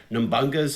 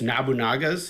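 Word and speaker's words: Nobunaga: see how, as kids, we pronounced it as, let me see if I know, Nambunga's Ambition, but it's Nabunaga's Ambition.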